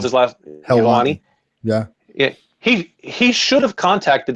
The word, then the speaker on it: Helwani: Ariel, how do you pronounce his last? Helwani.